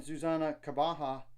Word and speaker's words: Zuzana Kabaha: At 3, Sierra Berry and Zuzana Kabaha, which I know that's the proper pronunciation now because like the interview on the second podcast with Zuzana and John Morris.